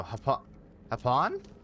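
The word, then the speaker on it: Japón: The J in Spanish is pronounced an H. So Hapon?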